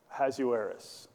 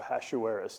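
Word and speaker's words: Ahasuerus: Hazueris or Aashuis depending on how you want to pronounce it.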